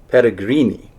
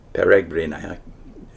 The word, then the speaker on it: peregrini: The Irish peregrini, that's the Italian pronunciation, maybe the Latin is closer to peregrini.